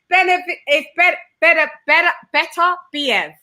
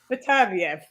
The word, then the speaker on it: Beterbiev: Beterbiev. Sorry, it's contagious. See, mispronunciation is contagious. My American bag. No, that's because I'm surrounded by you guys all the time. Beterbiev, we pronounce it as.